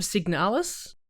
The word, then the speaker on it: Signalis: Have you heard of Signalis? I That's how you have.